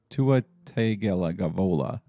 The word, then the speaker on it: Tua Tagovailoa: Tua Tagovailoa. Just call him Tua T. Just one of those words. It's really not that hard to say once you learn the two halves of it, or three, but I just can't do it.